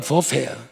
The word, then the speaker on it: 뷔페: 그래서 여러분 뷔페집, 원래 본토 발음은 버페야.